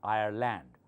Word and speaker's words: Ireland: Our neighbors have emigrated from Ireland, not Ireland, Ireland, okay? L-A-N-D at the end of a word is always land.